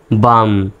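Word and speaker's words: balm: BLM, বিতে এখানে ব, এতে আকার, এল এর উচ্চারণ সাইলেন্ট, এম এর জন্য ম, তাহলে হয়ে গেল কি বাম।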